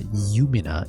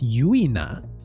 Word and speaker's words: Yuina: First off, name's not Yumina. It's Yuina. Y U I N A.